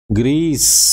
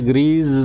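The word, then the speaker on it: grease: ग्रीस, सा sound है, ग्रीज नहीं है, ग्रीज बोलते हैं आमतौर पे, दैट्स रॉन्गली प्रोनाउंस्ड।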